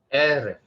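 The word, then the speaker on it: עֶרֶב: eref, The accent mark again, the first syllable has the emphasis. eref, like that.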